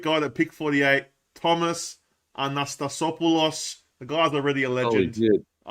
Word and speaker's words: Anastasopoulos: Thomas Anastasopoulos. The guy's already a legend. I love him. Can't wait for the commentators to say that name. Anastasopoulos. That's how you say it.